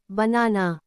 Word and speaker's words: banana: In banana, the first and last vowels are unstressed. They both sound like soft instead of a or a. Only the middle, na, part is stressed. So we say it like banana, with a soft beginning and ending a. These light a sounds are examples of schwa, schwa.